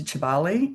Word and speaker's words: Kibale: about going up to Kibale. It's spelled with a K, but pronounced with a CH.